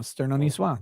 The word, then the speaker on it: Sterno Nisswa: my name right yesterday it is Sterno well uh gel Nisswa like uh from Nice France and it's an esoteric Futurama reference oh Sterno Nisswa there you go Diana